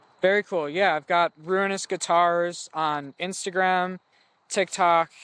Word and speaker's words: Ruinous: to spell it uh ruinous is just like the word ruin r u i n and then just o u s so ruin us yeah no shout out